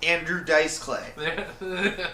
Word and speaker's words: Andrew Dice Clay: Andrew Dice Clay. Andrew Dice Clay. Emphasis on the dice.